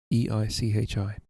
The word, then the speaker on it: Eichi: It's Ichi with an E in front of it. Eichi.